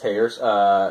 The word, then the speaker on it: Thayer: It's spelled Thayer, but his last name is pronounced Tayers.